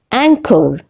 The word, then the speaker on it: anchor: is doubt number five anchor in the word anchor ho is not pronounced h is not pronounced number six resign resign